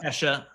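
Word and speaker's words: Ke$ha: Kesha. It's spelled with a $sign like Kesha. Oh, okay. Uh-oh. You got it's pronounced the same, but it carries weight. So Adele.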